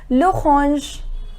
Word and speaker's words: l'orange: Then next orange, it has the same spelling, but the pronunciation is l'orange, l'orange.